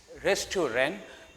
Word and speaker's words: restaurant: It's restaurant, not restaurant.